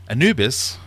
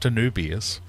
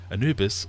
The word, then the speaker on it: Anubis: Stevie P question 18 Anubis not anubius Anubis the god of death has the head of